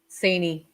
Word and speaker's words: Cini: Cini.